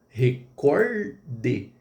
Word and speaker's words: recorde: Ah, e outra coisa, gratuito, recorde. Então você vai falar gratuito e record, não gratuíto e nem recorde.